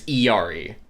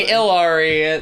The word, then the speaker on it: Illari: yeah let's see ah the official OverWatch pronunciation for the character is Yari so despite everyone saying illari the correct pronunciation according to Blizzard is e that makes sense because